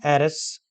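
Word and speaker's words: heiress: masculine gender air and Eris these these nouns begin with the alphabet h but when we pronounce these uh nouns uh there is no ha sound these words begin with a vowel sound air and Eris so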